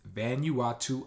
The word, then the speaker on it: Vanuatu: you ought to islands I know it's so easy to say why not or but the proper pronunciation as far as I'm concerned from what I've looked at is Vanuatu Islands I had another warning